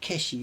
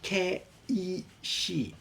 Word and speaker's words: keishi: It's not keshi, it's ke. Well, ke, it's 3 syllables. Ke-i-shi. It would be K-E-I-S-H-I, I guess, if you were putting it in Roman letters.